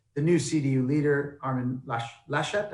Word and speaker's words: Laschet: And the sort of corollary to that is the new CDU leader, Armin Laschet, how do I pronounce that? Laschet, yeah.